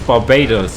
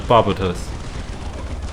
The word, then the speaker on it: Barbatos: So it's Barbados and not Barbatos. I know my pronunciation of the name can be quite funny, so either works for me.